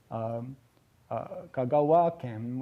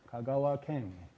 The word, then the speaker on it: Kagawa Ken: So you get Kagawa Ken with the accent at the end of Kagawa and not Kagawa Ken.